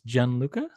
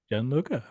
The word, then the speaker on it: Gianluca: I'm gonna try to pronounce your name it's Jan Luca it's perfectly pronounced Jan Luka well fantastic as our guest today how are